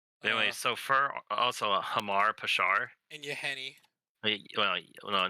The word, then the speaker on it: Hama: so for also a hamar peshar and yahani well no not yamaha uh that's what it is how do you say it it's h-a-m-a hama pishar ruin seeker it's the